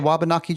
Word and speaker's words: Wabanaki: The Wabanaki. Is that how you would pronounce the Wabanaki tribe?